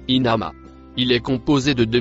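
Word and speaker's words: إنما: Le premier mot vert et noir se prononce inama.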